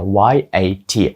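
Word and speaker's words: yacht: слово буде ят yт тобто C H не вимовляються взагалі Це просто y a t якщо дослівно читати yat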